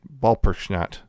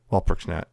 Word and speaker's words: Walpurgisnacht: witches themselves after defeating Walpurgisnacht. Walpurgisnacht. Yeah. German. German. The W is supposed to be pronounced like a V.